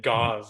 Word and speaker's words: Gase: Gase rhymes with vase. Okay. So I'm going to go with Adam Gase. At least All he right, doesn't Adam. pronounce it gauze like Voss.